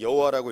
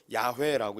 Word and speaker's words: 야훼: 그 이후에 사람들이 더 학자들이 연구해서 이 글자는 여호와라고 읽으면 안 되고 야훼라고 읽어야 된다라고 이야기했는데요.